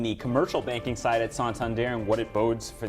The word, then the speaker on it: Santander: bank uh santon there that's how you say it santander santander santander we have